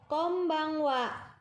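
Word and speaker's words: こんばんは: 2000 artinya pada saat malam hari kita mengucapkan Kombang Wa Kombang Wa silakan ditirukan Kombang Wa sekali lagi Kombang Wa tulisannya adalah sebagai berikut bacanya Kombang Wa Kapankah Kombang Wa ini diucapkan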